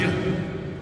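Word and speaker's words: Ж: So I'll tell you, I'm not very good Russian, but it's pronounced Zhuk. You've heard of names like Zhukov. That begins with zero.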